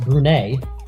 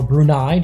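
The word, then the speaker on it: Brunei: out Kazakhstan and now Afghanistan against brune or brunai depending on how you want to pronounce it but here Marvel kuo we're going to pronounce it brune they're in the yellow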